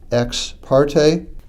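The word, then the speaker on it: ex parte: after the word order e ex p a r t that's usually pronounced X parte read carefully the motion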